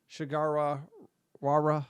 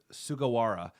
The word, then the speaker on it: Sugawara: Shigara Wara, I think. Sorry, I can't pronounce that name, but he'll be trouble as well. Yukinari Sugawara.